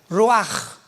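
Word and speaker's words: ruach: a c h pero la ch en el hebreo se pronuncia como J raj es la palabra para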